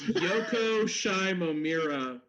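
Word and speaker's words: Yoko Shimomura: right oh damn it it's Yoko shimomira is the composer's name I would have never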